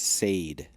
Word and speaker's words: Saeed: he reads it paul he pronounces nadia nadia but he pronounces saeed as said and um they are